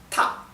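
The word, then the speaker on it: 他: que no varía es ta sí y no es Ta no es Ta no es ta sí la el tono tiene que estar alto ta y no varía ahora fíjense que para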